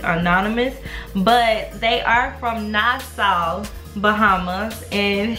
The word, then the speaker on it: Nassau: but they are from nasau Bahamas and she told me how to correctly pronounce nasau cuz I said nasu at first and she was like GRS had it right okay GRS had it